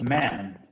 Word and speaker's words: man: La diferencia en la pronunciación de man y men, o es así nomás, man, men. Ajá. El singular es man. Man. Es esa A que nos hace sonreír, ¿se acuerdan? Man.